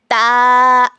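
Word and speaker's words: ت: ब के बाद देखिए ता ता ता ता का क्या मखरज है जबान की नोक को सामने के दो दांतों की जड़ में लगाने से ता अदा होता है।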